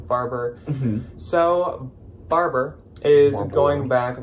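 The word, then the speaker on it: Barbour: called barbor or barber i'm not exactly sure how it's pronounced i always call it barbor and i've definitely heard people say barber so barber is going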